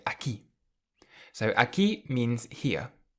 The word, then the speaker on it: aquí: Aquí. Aquí. It means here. Aquí. And you'll see that there is an accent on top of the I, so you emphasize that part of the word more. Aquí.